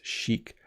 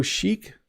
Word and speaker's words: chic: So, this is an interesting one because when you look at the word, you might not think that's how you pronounce it. But, the word is chic. So, chic, I think, goes beyond just what you're wearing.